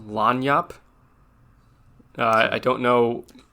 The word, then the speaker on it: lagniappe: Okay, I found out what Lagniappe is, and it's actually pronounced Lagniappe.